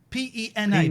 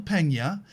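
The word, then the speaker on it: Peña: P-E-N-A, but there's a squiggly accent.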